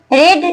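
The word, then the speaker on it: read: पुट पुट पुट रीड रेड रेड रीड में guys हम लोग प्रोनंसिएशन चेंज कर देते हैं लेकिन स्पेलिंग सेम रहता है इसे हम लोग रीड पढ़ते हैं ये रेड हो जाता है और ये भी रेड हो जाता है गाइस स प्रोनंसिएशन डिफरेंट होता है स्पेलिंग सेम होती है सर्च सर्च सर्च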